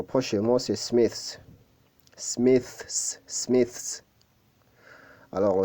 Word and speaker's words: Smiths: Smiths, Smiths. Alors, le TH se prononce avec la langue entre les dents.